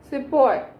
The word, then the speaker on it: sepoy: को प्रोनाउंसिएट करेंगे ब्रिटिश, तो they will not pronunciate it as सिपाही, but they will pronounce it as Sepoy.